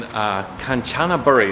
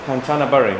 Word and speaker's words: Kanchanaburi: Hey guys, Matt here in Kanchanaburi. Is that how you pronounce it? Kanchanaburi. Kanchanaburi. Kanchanaburi.